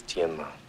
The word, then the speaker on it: Tianma: The correct pronunciation is Tianma. See how it ended up Tin Man.